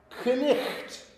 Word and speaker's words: knight: It's spelled that way, but it was, in Old English, it was pronounced knicht. The spelling has remained the same, the pronunciation has changed.